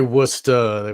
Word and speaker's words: Worcester: This is Hoagland sending something to Esther Brooks from Worcester, I guess. Worcester. I'm obviously not from the East Coast. Yeah. You could say Worcester.